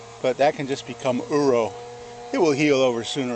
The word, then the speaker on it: uro: a scar here but that can just become uro it will heal over sooner or later but uro which is spelled Ur o is the Japanese term for